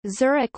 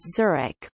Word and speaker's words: Zurich: Zurich. It is pronounced Z-E-W-R-I-C, and more recently sometimes also with T-S, as in German.